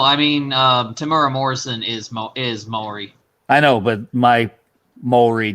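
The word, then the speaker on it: Māori: Just because of the way scale creeps, and I've got them, and they are Maori, or to pronounce it correctly, Maori miniatures, and I'm going to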